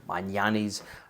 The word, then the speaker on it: Magnanni: have a pair of magnani's here maniani's as some people pronounce them that I've owned for